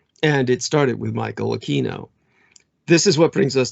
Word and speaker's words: Aquino: his own uh standards he preferred he infinitely preferred aquino and at the time